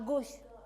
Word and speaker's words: gauche: Ini à gauche. Gauche hantu ya. Ingat kalau à gauche. Pengucapannya seperti mengatakan gauche dalam bahasa Inggris hantu.